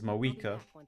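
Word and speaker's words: Mavuika: Mavika is Mawika.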